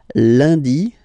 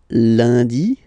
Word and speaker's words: lundi: in France the week starts with Lundy Monday lundi lundi ok remember and is pronounced like a lundi lundi lundi then Maddie